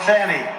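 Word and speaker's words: Fani: a n i fny you have to pronounce it fonny it's called Fanny you have to pronounce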